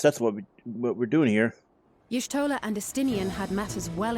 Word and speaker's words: Y'shtola: Y'shtola and Estinian had matters well in hand, so we went. I swear, I keep hearing different pronunciations for Y'shtola, so it's Y'shtola, okay.